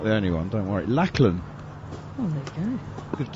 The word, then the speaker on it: Lachlan: That one is driven out towards the sweeper on the cover boundary, but I'm told by our always knowledgeable producer Scott Taylor that it's actually pronounced in New Zealand anyway, Lachlan.